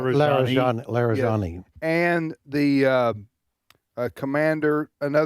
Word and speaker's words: Larijani: The Israelis are saying that they have killed the Supreme National Security Council Secretary Ali I can't pronounce Larijani Larijani and the uh a commander another commander